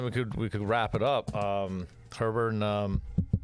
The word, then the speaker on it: Herbert: It's spelled Herbert. I keep saying Heber. What the hell's wrong with me? Sorry. He gets it all the time. I know. Just get the R out of there.